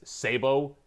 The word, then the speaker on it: sabot: So when you have loud noises and someone says Sabo, you know what they're talking about. So that's why they use the French way of saying it, but you can say it as Sabat.